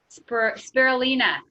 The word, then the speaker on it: spirulina: has the Pacific health the marina brew you pronounce that for me Serleena spirulina okay thank you and with essential oils as